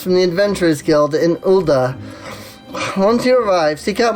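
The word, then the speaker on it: Ul'dah: and good luck all right off to ulda just make sure to say because it's ulda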